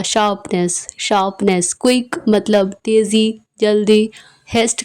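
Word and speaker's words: coup: right right या फिर कु इसमें पी साइलेंट है इसे बस के डबल ओ कु प्रोनाउंस करेंगे या फिर रिवॉल्ट या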